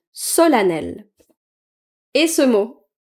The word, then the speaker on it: solennel: Et ce mot solennel. En fait, on va pas le prononcer solennel. On va le prononcer solel. Solanel.